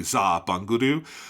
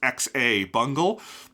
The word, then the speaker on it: Xabungle: I also love the choice that in there is no X in Japanese. So like in Japanese it's a Z sound basically. Zaha bangodu and then they but they spelled it in in Ramaji with the X and so it's X A bungal and I just I